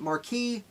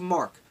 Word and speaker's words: marque: I always want to pronounce it marquis because I read it that way 20 years ago. Letters of marque, which was essentially a